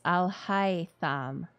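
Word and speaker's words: Alhaitham: The right pronunciation is Al-Haitham.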